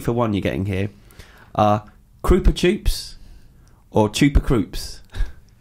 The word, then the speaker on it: Krupa Choops: Krupa Choops or Chupa Kroops. Is that supposed to be a bit like Chupa Chups, Yeah. but it doesn't quite rhyme? No, that's how you say it.